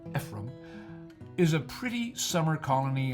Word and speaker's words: Ephraim: Ephraim, pronounced Ephraim, is a pretty summer colony on Green Bay.